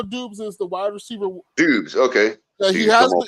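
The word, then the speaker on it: Doubs: Dubes, okay. He I'm has all been, pronouncing it wrong.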